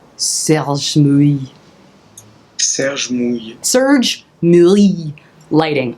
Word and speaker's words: Serge Mouille: Serge Mouille. Serge Mouille.